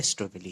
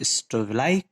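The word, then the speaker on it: strobili: ध्यान रखना, यहाँ पर लिखा हुआ ये मेल स्ट्रोविलाई है, स्ट्रोविली है, यानी जो आप प्रोनाउंसिएशन करें सही प्रोनाउंसिएशन स्ट्रोविलाई, कुछ टीचर्स प्रोनाउंसिएशन करते हैं, कुछ टीचर स्ट्रोविली कह देते हैं, तो वैसे कोन भी हम लोग इसे ही कहते हैं, कोन।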